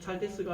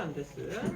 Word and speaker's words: 안데스: 잘데스가 아니라 안데스.